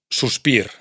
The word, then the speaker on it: suspir: Sin embargo, sí se pronuncia en palabras como suspir, suspiro, gir, giro. No se pronuncia en clar, claro, pero sí se pronuncia en car, caro, mar, mar, far, faro. Por otro lado, si la